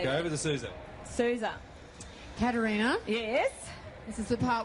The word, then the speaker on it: Caterina: so I'm Italian and it's Karina with a c because there's no K in the Italian language and it's so